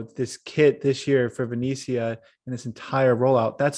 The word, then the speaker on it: Venezia: my italian is terrible but we got to pronounce it right it's venezia and it's here yeah come on gate i'm